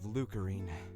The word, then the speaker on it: Lucarine: nobles and officials of lucarine oh so that's it that's how you say it i i'd be calling it crane because it feels feels it feels more easier to say look lucarine okay